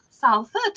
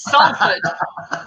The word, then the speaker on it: Salford: Because everybody else was going Salford, and I went Salford. It's Salford.